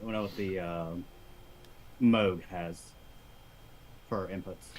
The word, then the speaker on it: Moog: bit I don't when I was the uh Moog has for our inputs it's pronounced Moog Mark if you call it move and people at music I'm kidding I'm kidding